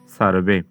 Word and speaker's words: সর্বে: আসলে ঠিক থাকলো তাহলে সর্বে এর শুদ্ধ উচ্চারণটি হয়ে যাচ্ছে সার্ভে তো এরপর দেখো ভবন্তু